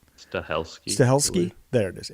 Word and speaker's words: Stahelski: um what is steli is that how you pronounce his name his last name looks like stes stahelski stahelski there it is s a h e l